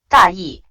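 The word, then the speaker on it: 大意: 大意 It can have two different expressions. With the neutral tone, it literally means careless. However, with the fourth tone, it literally means rough idea.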